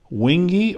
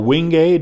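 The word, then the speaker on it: wenge: This is purple heart, white oak, wingi or wingay depending upon how you pronounce it.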